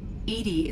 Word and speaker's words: EDI: Edie is the phonetic pronunciation of E-D-I.